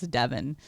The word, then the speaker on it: Devon: we goes you know it's actually not Devon Avenue it's Devon that's how that's how it's supposed to be pronounced well we call it